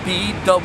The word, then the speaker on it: bwowph: Now, it's spelled B-W-O-W-P-H, and the true pronunciation is bwowph.